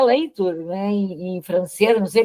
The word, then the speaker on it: Latour: reduzir cabeças, do Latour, se escreve Latour, mas se pronuncia Leitur, né, em francês, não sei pronunciar direito em francês.